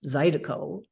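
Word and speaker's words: zydeco: line in the song is something like learo pronounced zido yeah are not salted I don't know what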